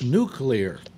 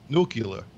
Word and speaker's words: nuclear: to begin with you'd have to pronounce it correctly its nuclear we're played after me Phil nuclear nucular nuclear nuke leader nuke